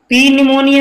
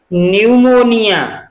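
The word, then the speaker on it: pneumonia: इसको हम पी निमोनिया नहीं पढ़ेंगे, इसको क्या पढ़ेंगे, न्यूमोनिया।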